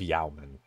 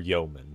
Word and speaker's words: Yeoman: And will receive some honor, and with the royal title of Yeoman, or Yeoman, depending on how you want to pronounce it.